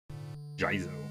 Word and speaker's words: Jizo: Jizo. Preferably pronounce it that way.